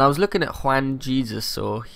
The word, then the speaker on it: Jesus: And I was looking at Juan Jesus, or Jesus, I think he's Brazilian, so I imagine it's pronounced with a H.